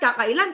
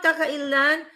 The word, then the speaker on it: kakailian: niya sa mga kakailang Oh it's not kakailang kahit hindi Ilocano would you pronounce it kakaila Ilan ang dami kong mga kaibigang aloka no Sabi niya sa mga kakailyan maraming sabi niya Maraming